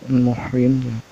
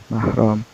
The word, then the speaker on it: mahram: muhrim sering kita Hai salah ucap mengenai mahram itu muhrim atau much minusnya yang menyebutnya itu muhrim bahwa mahromnya Harusnya mahrum kalau misalnya muhrim gitu orang yang sedang berpihak ROM jadi eh salah dalam pengucapannya yang benar itu yaitu mahram yaitu mahram adalah Stefan